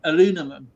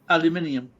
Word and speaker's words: aluminum: alloy is actually the correct way of saying it is actually the American way, aluminum. And but with the chemistry community wanted it the English way as aluminium. That is why. But you guys say it correctly as where we don't. True fact. Thank you. That's what I kept telling someone that was from Britain. It is aluminum, That is not the correct aluminium.